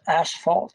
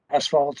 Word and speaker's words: asphalt: I do say asphalt many times because that's the way we talked about it. But it's not ash. It's asphalt. ASPH, which sounds like an F. So asphalt is the proper pronunciation.